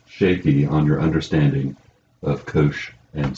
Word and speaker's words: cosh: On problem 4, I ask you to calculate the Wronskian of y1 equals, how do you pronounce that? That's called cosh.